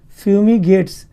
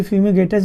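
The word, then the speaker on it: fumigatus: Aspergillus फ्यूमिगेट्स, कभी कभी फ्यूमिगेटस भी बोलते हैं, तो जो भी इंग्लिश में फ्यूमिगेट्स ही बोलेंगे, रियल प्रोनाउंसिएशन यही है, सही उच्चारण यही है।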